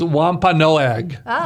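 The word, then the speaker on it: Wampanoag: I was hoping she knew how to pronounce it so I didn't have to. But it's Wampa Noag.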